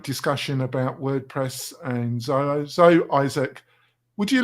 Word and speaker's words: Izik: prepared it we've got how do you pronounce your surname again Isaac Isaac and he was very amused by